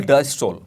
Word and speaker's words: डायस्टोल: एक है सिस्टोल और दूसरी है डायस्टोल। इसको सिस्टली भी कहते हैं, इसको डायस्टली भी कहते हैं, what ever you pronounce it's okay.